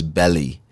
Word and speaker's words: Bali: And Bali, sorry, I'm trying to like pronounce it right. I heard it wasn't Bali, it was Belly.